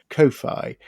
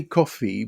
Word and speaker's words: Ko-Fi: You see, I don't say coffee because then I think people will go and type coffee. I was going to say, I don't know how to pronounce this. Well, I quite like Ko-Fi because then it makes you think that it's spelt somehow differently.